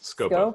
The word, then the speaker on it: Scopo: Yes, Scopo.